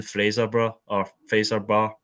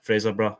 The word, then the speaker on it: Fraserburgh: Rangers hosting Fifth Division Fraserburgh. I'm not too sure on how you pronounce that one. You got But it right first time. Yeah, Fraserburgh.